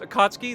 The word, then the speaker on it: Akatsuki: If you look at the stats of the Akatsuki, or Akatsuki, if that's what you want to call it, but it is pronounced Akatsuki.